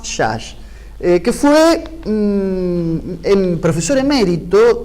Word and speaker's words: Szász: se llama thomas szász se escribe así de 60 así muy de los apellidos de los orientales y tomás chas que fue el profesor